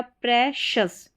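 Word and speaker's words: precious: तो सबसे पहले सी आई ओ यू एस ये लास्ट में होगा। इसको शस करके पढ़ना है। शुरू में देखिए यहां पर पी आर ई है। यह भी हमारा स्पेलिंग पैटर्न इसको प्री या प्र करके प्रोनाउंस करते हैं। दो तरीके से इसका उच्चारण होता है। तो यह हो गया प्रेशस।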